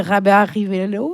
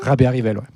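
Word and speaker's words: Rabearivelo: raisons mais donc alors je vais mal le prononcer Rabé Rivello. Rabé Rivelo.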